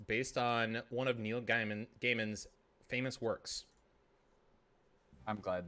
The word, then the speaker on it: Gaiman: why i was like i don't think it's gay man because it's g-a-i and so like if